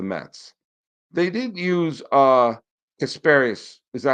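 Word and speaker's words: Casparius: series against the Mets they didn't use uh casparus is that how you pronounce his name uh uh yeah Ben casparus the Connecticut kid who pitched well in the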